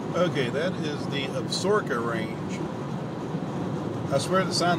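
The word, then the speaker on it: Absaroka: okay that is the absorka range i swear the sign looks like it says i have soroku but everybody tells me it's pronounced absorka must be an indian word of some kind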